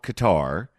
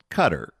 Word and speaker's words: Qatar: And you'd write the pronouncer c u t er and I remember thinking